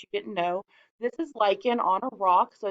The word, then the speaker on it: lichen: from last week yes it's pronounced like in it's that weird word that you didn't know this is like in on a rock so